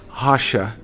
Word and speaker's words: Rocha: name is um hasha it spells r o c h a but it's pronounced hasha and like Russia with